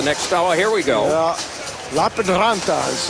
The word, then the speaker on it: Lappeenranta: Lappeenranta is how you pronounce that for the Finns, and Ice Baron Berlin.